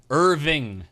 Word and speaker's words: Irving: guys ever heard of Irving Johnson? Urban Dictionary. You beautiful son of a bitch. No, Irving Johnson. Urban Outfitters. Irvin or Urban? Irving. Irving? IRVING. So you gotta pronounce the G's, dude.